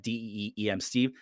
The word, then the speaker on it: DM Steve: Oh, you can find me on Twitter at DEEM Steve. That's DM Steve phonetically.